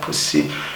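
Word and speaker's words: puszi: It's pronounced like sia, pussy, which obviously can make English speakers force it to laugh.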